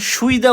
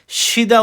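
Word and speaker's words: 쉬다: এটা কিন্তু উচ্চারণ সুইদা উচ্চারণ হবে না। ঠিক আছে, এটা সুইদা উচ্চারণ হবে না, সিদা উচ্চারণ হবে।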